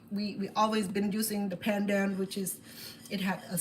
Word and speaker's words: pandan: And it's not panda, it's pandan.